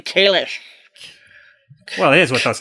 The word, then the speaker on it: Kahless: cuz it you know we all thought it was Kahless but no it's apparently Kalish well here's what I